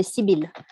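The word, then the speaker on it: Sibylle: with my name yes in french we say sibil but it's an international name so it can be pronounced as you wish it's coming from ancient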